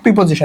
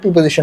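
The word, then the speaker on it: preposition: আর্টিকেলের নিয়মগুলো পড়বা আরেকদিন বেসিক প্রিপজিশন এটা কিন্তু প্রিজিশন না বেসিক কিছু প্রিপজিশন আছে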